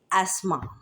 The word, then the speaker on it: asthma: लेकिन यहाँ पर ये टी साइलेंट हो जाएगा तो एस, TH both letter silent हो जाएंगे, तो उसकी कोई साउंड प्रोड्यूस ही नहीं होगी, जस्ट ASMA, एस्मा।